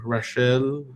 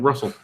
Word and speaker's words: Rachel: Rachel. That's Rachel. Russell. It's pronounced like Russell.